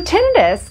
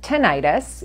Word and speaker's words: tinnitus: So tinnitus can also be called tinnitus. You know, in medicine, we like to pronounce things differently, but it's basically hearing